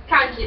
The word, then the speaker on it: kanji: Kanji, that's how you pronounce the word.